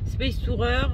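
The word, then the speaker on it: SpaceTourer: Mes premiers essais dans le van Space Tourer de Space, je sais pas pourquoi je prononce Space Tourer. Space Tourer, on va le dire à la française, de Citroën.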